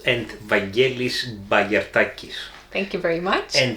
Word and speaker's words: Vangelis Bagiartakis: And this game is designed by, and I'm going to ask my trusty assistant over here to pronounce his Greek with his Greek accent. Varnavas Timotheou and Vangelis Bagiartakis.